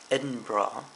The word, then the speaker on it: Edinburgh: Alright, so I'm in Scotland, Edinburgh. I've been told it's pronounced Edinburgh. I've been saying Edinburgh. That's not right.